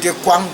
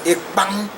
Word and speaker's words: ekpang: And other people call it ekwang, but that's not the right pronunciation. The right pronunciation, as a Balondo man will call it, is ekpang.